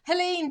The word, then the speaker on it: Helene: So Helene, it rhymes with Queen.